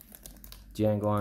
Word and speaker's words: Django: Django Unchained. The J is Silent.